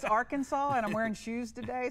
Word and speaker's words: Arkansas: That's like a non-syllable word. It's Arkansas, and I'm wearing shoes today, so don't ask me to do math.